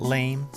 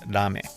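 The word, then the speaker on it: ラメ: using lame powder but actually it's pronounced so it's not lame it's rame anyways this was only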